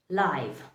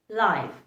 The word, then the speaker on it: live: words live and leave they both mean completely different and they are actually pronounced completely differently but i've often seen